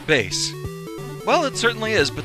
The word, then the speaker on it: Bass: evil twins here all right hi bass it's pronounced bass well it certainly is but that doesn't help